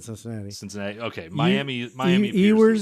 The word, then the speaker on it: Ewers: Ewers, is that how you pronounce it? Quinn Ewers. Yeah, it was quarterback for Texas last year.